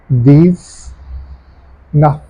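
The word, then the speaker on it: dix-neuf: So it becomes these nuff. These nuff.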